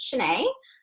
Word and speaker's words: Shanae: welcome my name is Shanae if you don't know how to pronounce I think of Sheneneh and it makes it really easy so anyhow I'm your